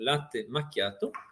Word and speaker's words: latte macchiato: Les économistes appellent ce phénomène la syndrome du latte macchiato, avec la prononciation italienne, donc latte macchiato.